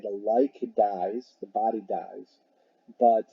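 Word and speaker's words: līc: It's pronounced like, L-I-K. The like dies, the body dies.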